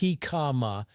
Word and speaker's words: jicama: He kama, pronounced hikama, is a root vegetable scientifically known as packeris erosis.